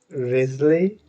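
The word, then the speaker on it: Wriothesley: I think you pronounce it Risley, Risley.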